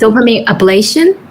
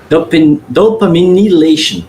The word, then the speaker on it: dopaminylation: Does dopamine ablation? Dopaminylation. Dopaminylation. I was saying it wrong.